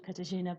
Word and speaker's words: Katarzyna: i already said a little bit about you katajina but can you tell me a little bit